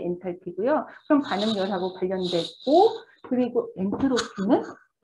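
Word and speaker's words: enthalpy: 엔탈피. TH 발음이니까 번데기 발음을 여러분 해주셔야 되고 엔탈피고요. 델타 H 마이너스 엔탈피 T 온도고 그리고 델타 S는 여러분 혹시 뭔지 아세요?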